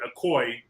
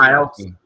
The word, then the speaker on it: Aoki: Then the daughter, Akoi, did I pronounce her name right? She started, she went on a tangent, and here's what she Aoki.